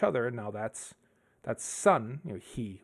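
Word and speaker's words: 日: He would be one way of pronouncing it. Would be like, there's different ways of pronouncing it, but it represents the sun.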